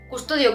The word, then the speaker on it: Qustodio: Celle que je connais le mieux et que j'utilise par excellence, c'est Custodio, avec un Q, d'accord ? Custodio, comme ça se prononce, mais avec un Q.